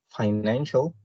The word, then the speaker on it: financial: And the last, financial, it has 3 syllables, and the stress is placed on the second syllable.